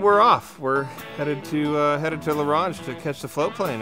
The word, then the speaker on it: La Ronge: grumpy and, I don't know, stubborn, I could La Ronge, right? Is that how you say it? La Ronge, Saskatchewan.